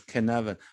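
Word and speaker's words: Cynefin: see that again connect yes so it's uh pronounced as canva what is canavan i looked it up and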